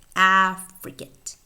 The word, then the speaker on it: affricate: And notice the pronunciation of this word, affricate, affricate.